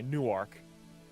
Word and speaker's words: Newark: it's actually spelled new it's spelled like new arc Super Saiyans funny new arc okay maybe maybe I should pronounce It That Way Newark Newark New Jersey like